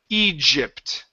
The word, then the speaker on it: Egypt: lips are out Gigi Egypt there we go that's better get a vibration vibration here and here Egypt EG må there you go that's a J sound okay one more time egypt egypt perfect that's great that sounds